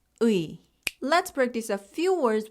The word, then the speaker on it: 의: 의 is a combination of two Korean vowels, ư and 이. Together, they form the sound 의. Try saying it with me. Start with ư, the ư sound. Keep your tongue low and relaxed. Then add 이, the e sound. Together, it becomes 의. When pronounced clearly, it sounds like this, 의.